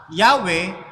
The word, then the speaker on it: Yahweh: Kaya nabibigkas ngayon nila yung pangalan ng ating Panginoon na nasa Yod, Hey, Waw, Hey, na sa halip na Yahweh ay Jahwe. Jahwe.